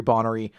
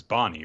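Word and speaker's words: Bonney: same reason i know her name is not jewelry bonnery i always call her jewelry bottery so that's why i do it so it's just happened i didn't even notice that about you because it's bonnie right yeah it's jewelry bonnie but i always call her bonnery it's just it's how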